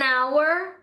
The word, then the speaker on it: hour: Exemplos: an apple, an elephant, an hour. Note, hour starts with the vowel sound even though it starts with h.